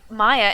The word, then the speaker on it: Maya: Maya rhymes with Zaya.